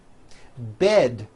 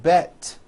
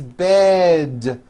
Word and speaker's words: bed: towards with D endings bed has a voiced D ending it's not bet with an unvoiced T it's bed with a voiced D Road also has a